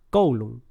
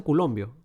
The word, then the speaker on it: coulomb: Más 1,6 por 10 a la menos 19 coulomb. Algunos lo pronuncian culombio. Culombio. Bueno, yo lo pronuncio coulomb, pero uno lo pronuncia culombio, ¿no?